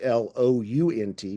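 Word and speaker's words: Blount: And finally, there's fiddler Jake Blunt, and that's spelled B Blu N T, but pronounced Blunt, of Providence, Rhode Island.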